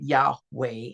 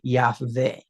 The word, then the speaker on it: Yahweh: But in ancient pictographic times the pronunciation was which is where we get Yahweh instead of Yahave.